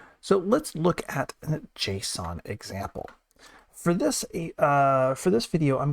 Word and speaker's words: JSON: JSON, JavaScript Object Notation, sometimes pronounced JSON, is a common way to be able to